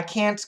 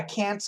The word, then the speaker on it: can't: If I'm not mistaken, you said we can cancel the T and can't, and the Americans do. Just follow the context. But my teacher always corrects me. Your teacher's a good teacher. As an ESL student, don't cancel. Don't cancel sounds, okay? Keep your pronunciation as clean as possible, all right?